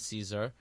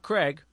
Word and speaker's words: Caesar: Last week, as you'll remember, we had Taslim and Caesar, not Craig, as I mispronounced his name last week, from Sesqui discussing their